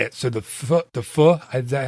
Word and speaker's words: pho: So the pho, is that how you say it? Pho. Just think like you're saying the 4-letter word without the last two letters. Don't finish the word.